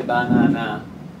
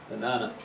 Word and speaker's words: banana: common as water banana we don't say banana unless we're a robot or a silly answering machine the strong syllable is the second one b banana the first and the